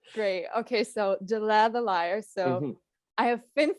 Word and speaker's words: Delaire the Liar: He always thinks you're called the Liar, and I'm like, no, they're Delaire the Liar. So how Yeah. do you pronounce the band name? It is Delaire the Liar.